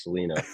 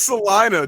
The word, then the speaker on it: Salina: He's from some town in Texas that everyone pronounces Selena. It's Salina, Jesus.